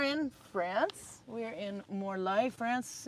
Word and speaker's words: Morlaix: We are in Morai, France. It's spelled M O R L A I X.